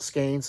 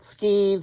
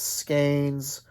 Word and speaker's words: skein: of skeins uh and it is pronounced skeins it's not skeens it's not skins it's skeins if you need help